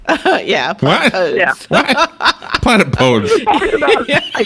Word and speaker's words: platypodes: The Greek origin of the word platypus means that the correct plural is platypodes.